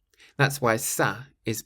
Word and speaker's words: ça: The word is ça. Ça, which means that. Ça. And so it's spelt C-A, and there's a little squiggle on the C, but we'll talk about that in a minute.